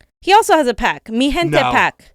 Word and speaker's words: Mi Gente: Mi Gente PAC. Mi Gente. Mi Gente. This is spelled wrong. It should be G, but okay. That's not Magente? Yeah, that's, yeah.